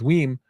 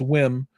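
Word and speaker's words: WiiM: room was there with we or whim I've been saying it wrong it's not we it's whim um and I got a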